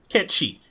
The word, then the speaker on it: Cait Sith: I guess to close off, the important question, do we stan Cait Sith, however you pronounce it? Cait Sith.